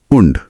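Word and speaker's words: und: हिस्से से आती है और उंड का उच्चारण होता है उंड तो इश्क प्रेशर हिंदी उंड इंग्लिश एकदम सही इसका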